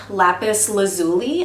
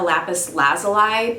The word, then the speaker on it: lapis lazuli: this is called a Lapis Lazuli I had originally been calling it a Lapis lazala but in the kind of poking around YouTube that I did about this Crystal everyone pronounces it lapis lazuli I picked this up